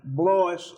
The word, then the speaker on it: Blois: Blois, unusual name, rhymes with voice.